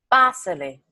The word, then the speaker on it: Pásele: Make sure we're having the accent on the A. Pa se Pásele.